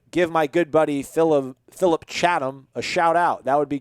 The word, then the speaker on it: Chatham: Is Chapman or Chatham? Chatham? It's spelled Chatham. Yeah, it would be Chatham.